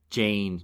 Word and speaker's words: Jeyn: But throughout this chapter, every time Theon thinks she's got to remember that she's Arya, he thinks to himself, "Jane, Jane." It rhymes with pain.